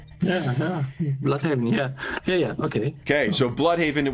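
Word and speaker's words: Blüdhaven: It's pronounced blue haven in the new peacekeeper TV series for some bizarre reason, but that happens on an alternate earth. So, I'm assuming that it is a weird pronunciation of blood havenist, which is how I've heard it pronounced in every other media.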